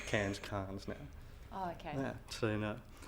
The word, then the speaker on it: Cairns: Well, I pronounce Cairns now.